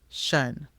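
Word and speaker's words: -tion: But first, let's learn about an important phonogram, T-I-O-N, shun. The T-I-O-N phonogram is pronounced shun and is often used at the end of words.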